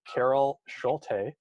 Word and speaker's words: Schulte: I am your host, Gavin, and today we have Carol Schulte on the call with us today. And Carol, did I pronounce that correctly?